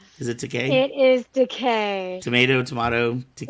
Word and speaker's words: Takei: Yeah, he says it's like it's decay, as in rhymes with I'm gay.